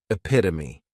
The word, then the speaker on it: epitome: Next is epitome. And this noun has four syllables and the stress is on that second syllable. Epitome.